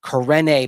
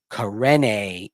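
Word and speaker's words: Karene: Corne, by the way, that is the pronunciation according to the pronunciation guide on the rosters we have been provided.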